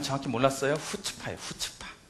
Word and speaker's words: 후츠파: 우리 목사님께서 경상도 사투리라 해가지고 나는 전 발음을 정확히 몰랐어요. 후츠파예요. 후츠파. 후츠파.